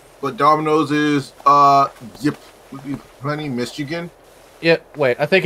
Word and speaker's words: Ypsilanti: Like he did his eat the menu for Domino's today, and I think it was Ypsilanti. That's what it is. We could get CMC in here for a better pronunciation since he is a Michigan.